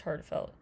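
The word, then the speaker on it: HA:TFELT: a t f LT unclear why but it is pronounced heartfelt featuring Keem hun on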